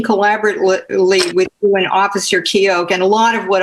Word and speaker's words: Keogh: out to you that it's Officer Keogh. There's no GH sound pronounced his name. That Keogh.